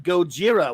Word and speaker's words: Gojira: good to see you RJ Godzilla or is it RJ Gojira we can that's the actual pronunciation but I know RJ